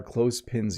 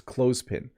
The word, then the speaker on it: clothespin: not too bad it's clothespin so you don't have to say the th as a the sound